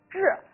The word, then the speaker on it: 彘: 我们要讲一个关于曾子杀彘的故事，这个字念作彘，哎，也